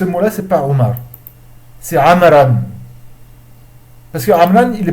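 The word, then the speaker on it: عمرو: Le waw dans le mot amr, il est là seulement pour indiquer. En aucun cas il se prononce. Donc ne cherchez pas à le prononcer en disant Amroun ou Amroun je ne sais quoi.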